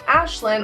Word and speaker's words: Aisling: I know it's confusing the way I spell is actually Gaelic and it is pronounced Aisling or Aisling depending on what you want to call it when the majority calls it Ashlyn I feel like I